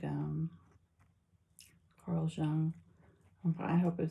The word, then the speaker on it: Jung: Oh, so I listened to this video about like the mother wound and like um Carl Young. I hope I'm saying his name right. I think the J is silent.